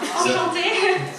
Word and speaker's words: Enchantée: Enchanté. Enchantée. Oh man, see, that's how you say it.